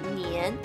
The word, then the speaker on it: 年: may also explain why the word year is pronounced nian in chinese and why the celebration of chinese